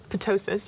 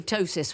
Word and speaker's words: ptosis: again we think which might be pronounced silent P we think I mean I would say ptosis without the p as well but I'm fairly relaxed